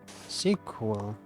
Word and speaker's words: SQL: Sequel pronounced sequel. Wait, I'm confused. SQL pronounce sequel.